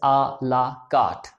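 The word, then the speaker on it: à la carte: सो इट इज अ word taken from French and is pronounced as आ ला कार्ट।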